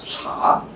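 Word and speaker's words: 茶: It's from French, called Té, actually it's a southern pronunciation in China, but northern pronunciation is Cha. So in Chinese we call it Cha, it's not tea.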